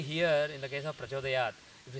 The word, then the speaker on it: prachodayat: I say prachodayat, you can't tell whether the last consonant that I am pronouncing is k or t or n, whether it's prachodayat or prachodayat or prachodayan. You can't really make out from my pronunciation because vowel is the life of an akshara.